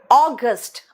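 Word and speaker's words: August: अगस्त, अगस्त नहीं।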